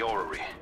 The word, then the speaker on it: orrery: But it should be safe, at least until you make it past the orrery.